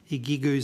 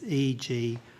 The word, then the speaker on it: IGU: We heard earlier that IHMS has contracts with a company called Igu Solutions and my apologize for my pronunciation. It's EGU.